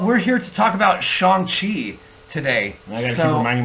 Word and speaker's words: Shang-Chi: But for years I've always pronounced it Shang-Chi. It's Shang-Chi.